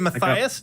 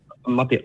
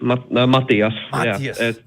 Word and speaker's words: Matias: Is it Matthias? Did I get it right? Matias. Matias. Yeah, pronunciation is other.